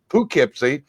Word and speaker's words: Poughkeepsie: from poughkeepsie new york i hope i pronounce that the northern way poughkeepsie and the name of